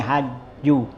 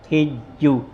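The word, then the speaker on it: حج: ammal hajju Adapun hajju hua bifatil ha bacanya dengan fathah ha jadi hajju hijju ya boleh bikasriha boleh juga kasrahnya jadi hijju ya watimul Haj illah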